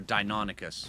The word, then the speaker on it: Deinonychus: You follow the path all the way up here, and it's just leading you to the Deinonychus area. Or Deinonychus, whichever way you want to pronounce it.